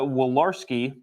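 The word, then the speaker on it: Walorski: article the late representative Jazz Jackie will uh wolarski uh I believe that's how you pronounce it um so if you remember she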